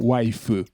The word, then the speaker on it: waifu: Conhecida como waifu, porque você ainda precisa aplicar aquela inabilidade, né, percebida, não objetiva, aquela inabilidade percebida do japonês de pronunciar a palavra wife. Então, waifu.